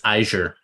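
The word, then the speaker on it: Eigr: I think it's Iger. Iger. Iger. Cool. It's Iger. Iger. It's Welsh. The G is soft. Mm. Then yeah, sure. That sounds nicer too. Iger is a prettier Iger.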